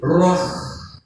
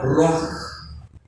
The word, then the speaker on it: ruach: Y exhaló Isaac el Ruach.